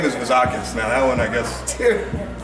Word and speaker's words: Vizakis: And then the last name is Vizakis. Now that one, I guess, just think of something that rhymes with Vizakis and you got it, okay?